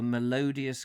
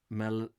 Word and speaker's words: malodorous: And then again, he says, they've discounted the theory, for they appeared to accept the melodious corpses as part of the normal things. Melodious. Malodorous.